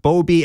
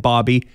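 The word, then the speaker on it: Bobi: the late dog Bobby I've heard it pronounced Boby and Bobby the dog from Portugal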